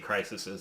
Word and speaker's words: crises: They talk about the crisis, but there's been multiple DC crises in the comic. That's true. Crises, if you will, in the comic book. That is how you say that word.